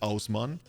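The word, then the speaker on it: Haussmann: of course like there's this hosman guy who's probably pronounced asman who's like famous for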